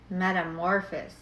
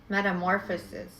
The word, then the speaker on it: metamorphosis: This is metamorphis. Metamorphosis.